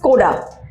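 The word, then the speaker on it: Škoda: charm tonic is it a core a just Skoda so a pronunciation of it go down it's school it's now school its Skoda tile oshiruko - wait don't destroy it now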